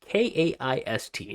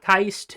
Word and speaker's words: KAIST: KAIST, that is how it is spelt and the way it is pronounced. KAIST, not Keist, it is KAIST.